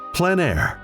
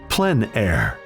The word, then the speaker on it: plein air: Called plein air, the French coined the term, which means open air or outdoors. The French pronounce it plein air. Others say plein air.